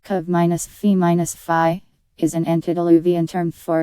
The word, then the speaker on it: covfefe: This one, published by the Marshall Report, held Covfefe, pronounced Cov-Fe-Fi, is an antediluvian term for in the end we win.